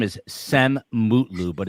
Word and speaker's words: Cem: Uh, so this guy's name is Sem Mutlu, but it's pronounced gem, like a like a gemstone, and it's spelled either way.